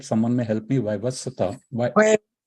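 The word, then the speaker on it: Vaivasvata Manu: I think the current Manu is, I can't pronounce it right. Someone may help me. Vaivaswata. Vaivaswat Manu.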